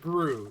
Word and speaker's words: GRU: gr these are guw spsn gr and they pronounce it Gru they don't say G they pronounce it like